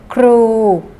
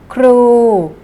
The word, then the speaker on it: ครู: อาชีพ ครู ครู เด็ก ออก เสียง ให้ ถูก นะ คะ ครู มี รอ เรือ อยู่ ด้วย นะ คะ รอ เรือ ต้อง มี ควบ กล้ำ นะ คะ ก็ คือ ต้อง ใช้ ครู ไม่ ใช่ ครู นะ คะ ครู ใหม่